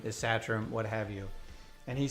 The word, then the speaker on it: Satrom: Satram would be the correct pronunciation. And I'm like, all my life, I've been telling people it's Satram, and here I find out that in the home country, we got it wrong.